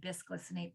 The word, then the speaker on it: bisglycinate: Magnesium biglycinate is a really great one. Bisglycinate, biglycinate, depends on tomato. It's spelled BIS.